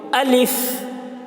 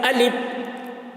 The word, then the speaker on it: الف: پڑھیں گے، اس کو جب الف بولتے ہیں تو ہوا نکلتی ہے، الف۔ یہ صحیح تلفظ ہے الف کا، الف۔ بعض لوگ اس کو پڑھتے ہیں الف، تو یہ غلط ہے۔ الف یعنی ہوا نہیں نکل رہی ہے، آخر میں پے کی آواز نکل رہی ہے، الف، تو یہ